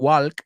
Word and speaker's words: walk: And remember, is that L pronounced? No way. It's not walk.